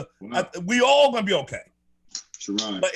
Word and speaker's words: Sherrod: It's Sherrod. Let him pronounce it the way he wants.